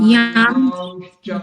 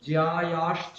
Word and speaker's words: ज्यायांश्च: ইয়াম জ্যায়াংশ্চ, এরকম জ্যায়াশ্চ নয়, জ্যায়াংশ্চ, clear.